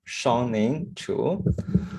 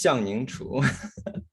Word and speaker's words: Xiangning Chu: So let's pronounce my name perfectly. I'm Xiangning Chu. So, in Chinese, Xiangning Chu. And Chu Xiangning maybe because we have last name first.